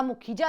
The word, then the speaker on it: Mukhija: भी मौजूद थी, अपूर्वा मखीजा। हालांकि वो नाम अपना मुखीजा लिखती हैं, MUKHIJA, मुझे नहीं पता किस लिए, लेकिन उनको प्रोनाउंसिएट करने में हम मखीजा ही कहते हैं।